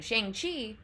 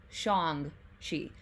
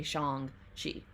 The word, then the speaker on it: Shang-Chi: or sorry gotta remember usually he has been called shang chi but that is like the american way of saying it so the proper pronunciation is shong shi so i am trying to get better at like remembering to say shang shi it's just in my